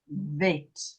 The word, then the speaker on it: Vet: oh, That, jene, that is vet. Bet, okay. Bet. Vet. That's with the dot. With the dot is vet. That's vet with a v.